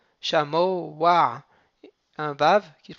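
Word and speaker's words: שָׁמֹעַ: Donc, on va faire comme s'il y avait un vav. Shamo wa.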